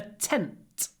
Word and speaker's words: tent: Can you hear I say tent? Then a little pause and then t. Tent. Tent. Because t is unvoiced, глухой, so we get this little pause.